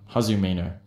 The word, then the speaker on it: Hazumino: it it sounds cool so that's hazumino yeah hazumino how do you spell that uh h-a-z-u-m-i-n-o there you go folks and